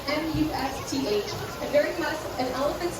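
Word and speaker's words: musth: Now, male elephants go through a natural hormonal change called must. Now, must is spelled M-U-S-T-H, and during must, an elephant's testosterone can go up to 60 times the normal amount.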